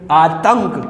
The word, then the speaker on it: आतंक: तो हम बोलने में कैसे बोलेंगे? आतंक। कैसे बोलेंगे? आ ते, फिर आधा ने, उसके बाद क्या हो जाएगा? ने। मतलब इस बिंदी का उच्चारण ते के बाद में हो जाएगा।